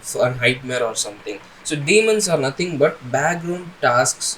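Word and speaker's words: daemons: to demons demons demons I think that's demons we have to pronounce it as demons so the next St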